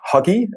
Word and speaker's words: hygge: I think also some Americans pronounce it huggy, and I think we should all switch to that, because that is actually,